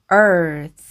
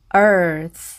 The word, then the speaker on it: earth: 이렇게가 끝에 있을 때는요 영어는 끝에 있는 소리는 아주 약하게 발음하기 때문에 거의 바람 세는 소리만 이렇게 발음을 하시면 Earth Earth 이렇게 발음하시면 되겠습니다 그리고이의 뜻은 지구라는 뜻입니다